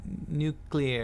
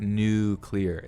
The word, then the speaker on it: nuclear: but listen to this nuclear nuclear nuclear that's three syllables right nuclear nuclear right three damn syllables that's what i'm saying dude it's not new clear it's not it's not